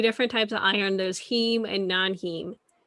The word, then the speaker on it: heme: There's heme and non-heme. Am I saying that right, or is it hem? Yeah, it's heme. Okay. It's heme.